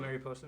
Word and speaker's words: mariposa: so much for the primes you know what mariposa means it means butterfly in spanish oh really yeah it's pronounced mariposa that's why i hired thank you